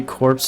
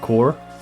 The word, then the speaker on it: Corps: Learn today corpse is pronounced core. Corpse. Like a corpse. Like you're dying. You become a corpse. Just core.